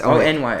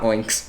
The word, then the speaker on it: Onyx: That's ONYX. Onyx. Onyx, not Oinks. Oinks sounds like a noise a pig would make.